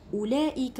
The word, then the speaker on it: أولئك: نفس الشيء هذه، هذاني، أولئك هؤلاء كلها عندها مد لفظا. وشنو معناتها؟ معناتها ننطقوها لكن لا نكتبها.